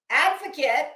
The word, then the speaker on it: advocate: are not one okay Advocate as I have told her 87 429 times along with behoove um Advocate has a D in it it's an advocate it's